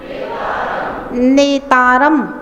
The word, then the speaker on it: नेतारम: देखिए नेतारम में एकता है और भेत्तारम में दोता है, तो उच्चारण करते समय हमेशा ध्यान रखेंगे नेतारम में नेतारम, भेतारम में भेत्तारम, दोता का उच्चारण करना है तो आपका उच्चारण एकदम शुद्ध होगा। नहीं तो लोग पढ़ते हैं नेत मोक्ष मार्ग से नेतारम भेत्तारम कर्म भूव्रताम, तो डबलता कर देते हैं।